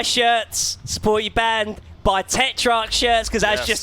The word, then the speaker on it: Tetrarch: It's Tetrarch.